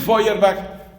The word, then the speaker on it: Feuerbach: se escribe web efe vb soy airbag se pronuncia ludwig feuerbach publica un libro que es un golpe decisivo